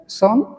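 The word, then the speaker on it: son: যেটাকে আমরা সন বলি। আর ইউং মাই সন। কিন্তু সঠিক উচ্চারণ হচ্ছে সান।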